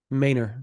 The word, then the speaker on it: Manor: correct me if I'm wrong here Manor Texas Mayor mayor Texas yes he is from the Austin area yes is pronounced mayor yeah he's moved around a few